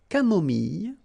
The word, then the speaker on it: camomille: So remember when we get this E and then double L, it goes like y. Mille, camomille, une camomille, un thé